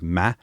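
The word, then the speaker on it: 間: It's kangji that's pronounced as ma, but it literally means the space between and the relationship between things.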